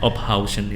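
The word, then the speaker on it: Ophuijsen: Ophusen itu bacanya Ophausen itu. Ophausen.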